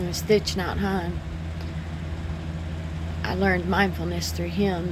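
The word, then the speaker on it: Thich Nhat Hanh: And one of the books I read from I think I'm going to say his name wrong is Stitch Not Han.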